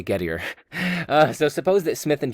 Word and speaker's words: Gettier: I know some people pronounce it as Gettier, but that seems to be a little bit pretentious, doesn't it? So I'm just going to say Gettier.